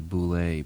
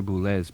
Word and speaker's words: Boulez: In the old days, we used to say Boulez, but Pierre Boulez pronounces it Boulez for some strange reason.